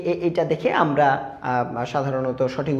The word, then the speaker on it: A: সো এ এইটা দেখে আমরা সাধারণত সঠিক উচ্চারণগুলি জেনে থাকি। এখানে প্রথমে যেটা দেওয়া আছে সেটা হচ্ছে আমরা বলি এ। This is নট এ। এটা হচ্ছে এই।